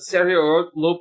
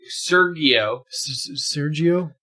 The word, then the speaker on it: Sergio: no but movie but Serio uh Sergio Pablos that's not his first you didn't pronounce the G Sergio Sergio like the cheese Sergio serento um this